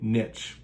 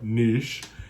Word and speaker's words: niche: to you number three find a niche or niche if you're into that pronunciation and let people know